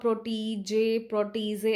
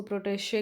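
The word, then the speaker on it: protégé: बढ़ते हैं दोस्तों हमारे फोर्थ वर्ड की तरफ, या फिर इसको आप प्रोटीजे ऐसे करके प्रोनाउंसिएट नहीं कर सकते हैं, आप इसको प्रोटेशे करके बोलना होगा।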